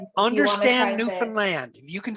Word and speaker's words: Newfoundland: Newfoundland. I heard today it rhymes with understand. Understand Newfoundland.